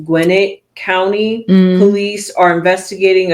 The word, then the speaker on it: Gwinnett: yeah, I think it's pronounced Gwinnett County.